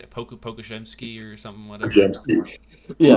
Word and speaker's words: Podziemski: Podziemski. Yeah, Podziemski.